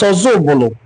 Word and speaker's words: Ozubulu: The Igbo in Council of Ozubulu explained that The name of their town is pronounced as Ozubulu from Oza Ubulu, and certainly not meaning another Ubulu, as often misinterpreted.